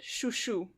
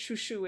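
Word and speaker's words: Chouchou: happen um quick note the way I pronounce his name is the French way because of course because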